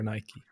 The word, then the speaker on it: Nike: Yeah, I would say Nike. The American pronunciation. I think that's the correct way because that's how the way the Greeks pronounce it.